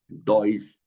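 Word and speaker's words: Deutsch: डॉय डॉय और डॉय के साथ हम टी एस सी एच लगा देगी। डॉइस बिल्कुल सही कहा।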